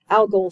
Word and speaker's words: algal: Plant cells and algae, the algal cells is how you say that, they carry out photosynthesis in organelles called chloroplast.